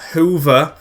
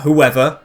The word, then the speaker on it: Hoever: to pronounce this guy it's hoover not whoever it's just hoover guijana hoover with duarte